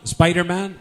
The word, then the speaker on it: Spider-Man: Yo era de Spiderman, como dicen en España, Spiderman. En inglés es Spider-Man. Y algunos se confunden cuando oyen Spider-Man. Es la pronunciación correcta es Spider-Man.